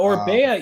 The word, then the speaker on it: Orbea: It's a Man, surprise, but it rhymes with Bea.